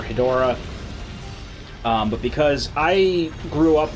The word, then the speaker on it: Hedorah: in 60 seconds that's Hedra oh okay or I know that I'm technically pronouncing that wrong but so most people will you know known by the actual currency a shin Hydra or Hedorah but because I grew